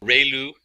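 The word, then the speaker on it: ReLU: a standard step function we have the um rayu it's pronounced like Ray the ray of from the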